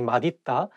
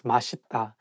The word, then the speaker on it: 맛있다: So it's okay because even some Korean people sometimes just by mistake say 맛있다, but actually the correct pronunciation is 맛있다.